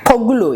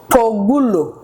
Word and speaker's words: Kpogulo: Kpogulo. You can try to pronounce it. Kpogulo.